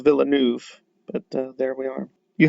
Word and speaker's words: Villeneuve: too seriously but um villanu okay all right i don't think you pronounce it like that but um could be wrong about that one too again i'm willing to be taught new things but i think it's villeneuve but there we are